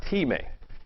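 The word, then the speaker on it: τιμή: The word used for honor here for both all people and the king is the same Greek word, pronounced time.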